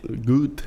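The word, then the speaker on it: Goethe: Eh, o maior autor alemão, o o Gut, é assim que pronuncia, né? A gente fala Get, né?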